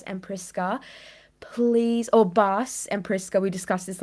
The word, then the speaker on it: Bas: So we could talk with you guys and I don't know if you haven't seen our last live with Baz and Priska, please, or Bas and Priska.